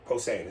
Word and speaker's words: Posehn: Posehn. Posehn. Is that how you say that? Yeah. I never knew how to pronounce his last name.